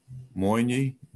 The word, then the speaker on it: Moyne: Like this Rumi, it says that it's Coleman Barks, but with John Moyne. Yes. Yeah. How do you pronounce his name?